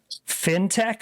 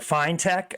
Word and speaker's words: fintech: increasing Global activity around fintech or fine Tech I think I've been saying it wrong Marie it's fine Tech right Finance technology right I always say fintech like shark fin all right so Finch